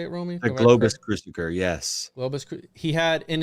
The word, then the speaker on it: Globus: Globus.